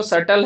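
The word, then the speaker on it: subtle: फस कहते हैं और ये जो सटल है बी साइलेंट होता है जनरली इसमें सटल का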